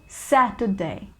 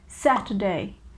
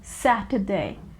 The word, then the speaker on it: Saturday: the americans pronounce it saturday saturday the slight r sound is there in american english but if you want to go with the british english so it is saturday saturday right in a